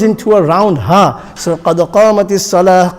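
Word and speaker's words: قد قامت الصلاة: So qad qamatis salah, qad qamatis salah. So the ta is there, but ta will not be pronounced because you will place,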